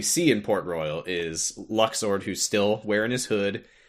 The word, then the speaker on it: Luxord: If anyone's listening and saying, "Uh, it's pronounced Luxer. Shut up." No, it's not. I hate it. I refuse. Yeah, that's that's dumb. It's Luxor.